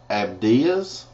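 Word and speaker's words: Abdías: is Amos spelled the same way Obadiah is abdas and then we have excuse me then we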